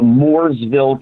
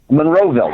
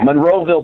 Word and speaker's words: Monroeville: it's um uh at the I gotta always pronounce the town right the moresville convention center Monroeville Monroeville Pennsylvania okay and it's got Richard dfus and